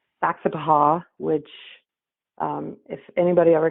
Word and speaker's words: Saxapahaw: It's it's phonetically spelled uh the same way, Saxapahaw.